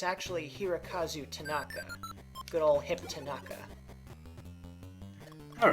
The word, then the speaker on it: Hirokazu Tanaka: not incorrect, but I think I got the name wrong. I think I said Hirokazu Ando, and it's actually Hirokazu Tanaka.